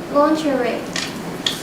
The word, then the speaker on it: lingerie: Lingerie.